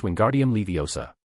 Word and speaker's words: Wingardium Leviosa: And pronouncing the incantation correctly is very important. It's Wingardium Leviosa.